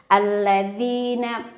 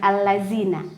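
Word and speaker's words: الذين: dirinya dibaca Dua harokat alladina perhatikan breaknya ya bukan alladziina sore Ingatkan lagi bukan alladziina tapi ilalladzina ya lidahnya digigit yaquluna ada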